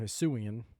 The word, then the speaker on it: Hisuian: it's most of, and that's what I love about Hisui too, is that all the Hisuian Pokemon, or Hisuian is how you say that name.